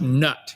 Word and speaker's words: Nut: you speak ancient Egyptian from now on it's pronounced nut you understand thus saith Kent Hoven okay Osiris